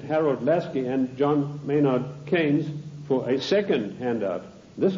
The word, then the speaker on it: Keynes: john maynard keynes or keynes he said keynes was a better word because it arrived with it rhymes with brains and this is the